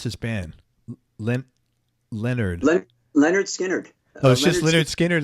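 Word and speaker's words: Lynyrd Skynyrd: working together in the band how do you pronounce his band lint Leonard Leonard Leonard Skynyrd like Leonard Steen Leonard skinhead okay skin hide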